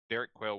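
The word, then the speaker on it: Derek Quayl: Quail like the bird. Uh qu u a y l So kind of but not the same spell but pronounced the same way. Derek Quail was the name of this person.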